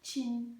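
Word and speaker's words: qing: je vous en prie qui est écrite Q I N G et qui se prononce chin.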